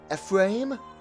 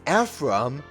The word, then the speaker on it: Ephraim: shifted it's like what it's not a frame it's Ephraim is so weird here